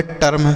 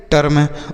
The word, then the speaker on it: term: TERM, इसे हम पढ़ेंगे टर्म। क्या पढ़ेंगे? टर्म।